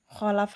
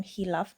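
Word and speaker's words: خلف: Khalaf hamzah itu bukan khilaf tapi khalaf ya.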